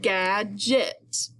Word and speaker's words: gadget: So then I put into place my j sound, that soft G sound, and I had gadget.